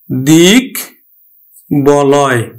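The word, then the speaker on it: দিগ্বলয়: এই ক্ষেত্রে এই যে মাঝে থাকলেও ব ফলার বটার কিন্তু উচ্চারণ হবে। আমরা উচ্চারণ করব দিক বলয়, আমরা উচ্চারণ করব দিক বলয়।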